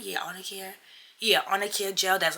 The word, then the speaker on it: Arnicare: Yeah, Arnicare.